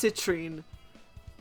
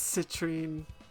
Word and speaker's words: citrine: Sapp amethyst and Cene it's citrine I've been saying it wrong it's citrine like citrus oh my God my